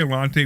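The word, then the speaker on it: Allanté: it, you know, it's it's it's an 83 Alante with the um with the V8 Northstar engine.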